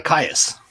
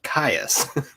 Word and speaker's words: KAYAS: will put you uh it's uh caius yeah okay i've been saying it right then yeah it's like you know kiss my ass you know but it's caius i like that kiss